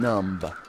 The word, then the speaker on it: numb: Or you can see that I was already feeling numb. So, numb? Is it with a B? It has a B. I just don't know if you pronounce the B. I don't think you do.